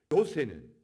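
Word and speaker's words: 요세: 작은 야고보는 세베대의 아들 야고보다 어린 야고보, 나이 어린 야고보를 말하고, 요새는 히브리 사람들이 요셉이라 부르는 헬라식 발음의 이름인 것입니다.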